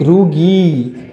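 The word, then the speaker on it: rugae: हम कहते हैं गैस्ट्रिक रुगी क्या कहते हैं हम इसको गैस्ट्रिक रुगी ई गैस्ट्रिक रुगी ओके बच्चों ए साइलेंट है सो ए इज अ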